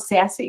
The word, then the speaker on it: SASE: talk to you about sassy greg you were right that's how you actually pronounce it gartner actually deemed secure